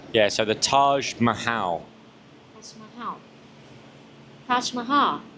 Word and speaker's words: Taj Mahal: It is Taj Maha. Yeah. So, the Taj Mahal.